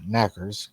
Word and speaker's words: knockers: The name knockers pronounced knackers comes from the knocking